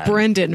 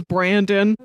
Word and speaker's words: Brendan: It is Brendan Fraser. Oh, am I saying it wrong? Yeah. I only say this because I imagine he probably grew up with a bunch of kids in school thinking his name is Brandon.